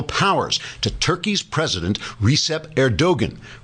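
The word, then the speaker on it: Erdoğan: The Europeans put down the riots, which angered President Erdogan, which is pronounced Erdogan because the G is silent, as in hottest.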